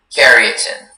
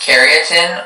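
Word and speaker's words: karyotin: Keratin. Can you please repeat all the information? Sure. The word can be pronounced keratin or keratin.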